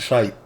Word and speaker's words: shite: That's how y'all would pronounce it, shite.